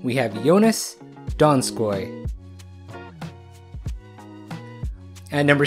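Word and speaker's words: Donskoi: At number 7, we have Jonas Donskoy.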